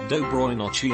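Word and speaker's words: Доброй ночи: harrowing conversation, and I said L, which is pronounced Dobroy Nochi and means good night.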